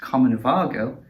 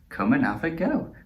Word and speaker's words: Comanavago: what i initially thought was pronounced common vargo or even commoner vega is in fact pronounced coma go because their ep is called if you think it hard enough so it's come and have a go if you think you're